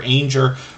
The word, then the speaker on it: Anger: This was Jennifer Anger, Rhymes with Danger, but they changed the name of the channel a while back.